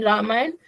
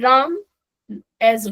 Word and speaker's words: Ram: you and I am using Ram as Ram only not Rama Krishna is just Krishna not Krishna because it's not Rama Rama is western you know European countries uh people are not able to pronounce announcing therefore they are calling it but if we Indians if